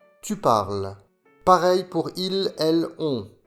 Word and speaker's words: parles: Le E et le S ne se prononcent pas. Tu parles.